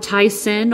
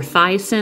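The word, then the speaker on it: Thi-Sen: and here we have tyson or thiasin i always call him tyson just by the way his name is spelled but he's a talls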